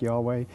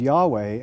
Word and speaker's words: Yahweh: god uh who is has the name Yahweh pronounced something like Yahweh but they also worshiped